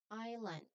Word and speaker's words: island: This is island. Again, island. There are two um syllables.